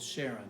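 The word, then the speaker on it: Charon: said they said that Karen would be closer to the Greek with the correct pronunciation but the moon is called Sharon well it's called Sharon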